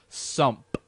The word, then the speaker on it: Sumpf: whatever how sump again it's it's pronounced sump Su no it's sump oh so it's like a you go sump and then at the end so it's sump just a slide sump we're g to start